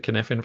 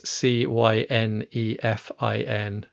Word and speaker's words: Cynefin: And yeah, I think I mentioned the Cynefin framework, which people can find. Um, it's it's a Welsh word. I've pronounced it slightly wrong. That's as close as I can reliably get to Welsh. It's Cynefin, if anyone needs to look it up.